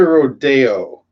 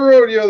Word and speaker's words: rodeo: The California Rodeo. They don't call it a rodeo, they call it a rodeo.